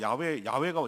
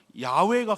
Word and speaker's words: 야훼: 스스로 있는 자라고 하면서 나는 야훼 여호와 하나님이라고 그랬어요. 자기 이름이 여호와, 우리는 여호와 익숙해지는데 정확한 원어 발음은 야훼가 가까워요.